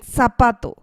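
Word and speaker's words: zapato: here again and then sapato sapato the stress is placed here which is again the second to last part of the word which means shoe and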